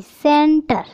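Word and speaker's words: centre: एन टी आर ई, सेंटर। यानी कि सी के बाद ई आने से सी का प्रोनाउंसिएशन होगा से, तो इसे क्या बोलेंगे, सेंटर।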